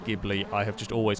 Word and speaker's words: Ghibli: I know it's pronounced Ghibli. I have just always called it the gibble, and it's more fun to say that way.